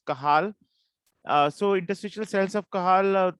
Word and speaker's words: Cajal: In Spanish, you can spell it, pronounce it as Cajal.